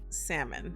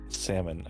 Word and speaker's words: salmon: it's absolutely almonds and salmon salmon I struggle because I want pronounce the owl like I want to pronounce the AL in a particular way it's just the way